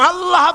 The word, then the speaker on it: আল্লাহ: আল্লাহ পাকের উচ্চারণটা হচ্ছে আল্লাহ পাকের নাম হচ্ছে আল্লাহ মুখটা একটু গোল হয়ে যাবে বলেন আল্লাহ আল্লাহ পৃথিবীতে বিভিন্ন জাতি তার